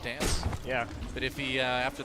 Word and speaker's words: DNCE: DNCE, we're told it's pronounced Dance.